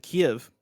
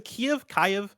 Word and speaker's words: Kiev: has three teams in los angeles frankfurt and kiev uh made up of former ea uesoft and crytek developers i definitely mispronounced is a key of yes yeah kiev yeah you got it okay